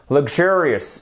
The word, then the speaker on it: luxurious: phonétique en même temps voilà l'accentuation ici luxurious voyez quand vous avez une apostrophe ici ça signifie que la syllabe qui est juste derrière est accentuée pourquoi parce que dans